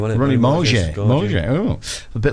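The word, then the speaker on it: Ronnie Mauge: How do you pronounce his name? Ronnie Morgier.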